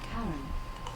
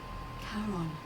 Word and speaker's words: Charon: it's just as you described it only your pronunciation is a little off the name you heard wasn't karen it was c-h-a-r-o-n as in caron the ferryman of the dead who in exchange